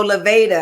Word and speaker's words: Lavāda: want to get to your Leva handbags so Leva and I'm pronouncing it correctly right you are okay Leva